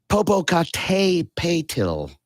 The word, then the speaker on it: Popocatépetl: And people are having a hard time pronouncing its names, the name of it, rather. Popocatépetl, and that is Popocatépetl.